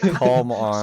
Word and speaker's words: Calm On: you can't hear the L, or you're not really supposed to say Koala. You know, like it's supposed to be Silent, calm on.